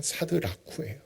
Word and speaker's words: 사드라쿠: 그래서 사드라쿠, 원어 발음대로 하면 사드라쿠예요.